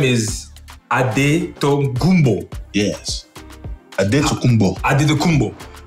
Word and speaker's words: Antetokounmpo: So it's pronounced Antetokounmpo in the Greek way.